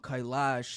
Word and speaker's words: Kailash: nature, it's very similar to, how is it pronounced, Mount Kailash? Yeah, Mount Kailash is a mountain Kailash.